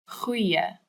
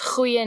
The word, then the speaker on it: goeie: This one's hard to say because it's got the ch sound that's so popular in Afrikaans language. Just pretend that you're really angry or irritated at something and you're going, ugh, and then keep that sound and go, goeie, goeie.